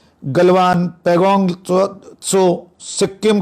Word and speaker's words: गलवान: है गलवान घाटी की, अलग अलग उच्चारण है, गलवान, ये देशज जो शब्द होते हैं क्षेत्रों के जगह के, उस पर विवाद हो सकता है कोई उच्चारण, लेकिन मुझे लगता है मैं गलवान का उच्चारण करूंगा उसको।